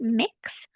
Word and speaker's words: Mx: so I have heard the term MX period pronounced mix and that goes in